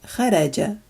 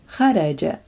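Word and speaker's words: خرج: And the opposite is kharaja, kharaja, and it means to exit, to go out.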